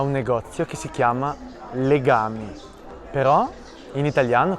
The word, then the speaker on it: Legami: Mi trovo davanti a un negozio che si chiama Legami, però in italiano questa parola pronunciata con un accento diverso, ha un altro significato, cioè legami, il verbo legare più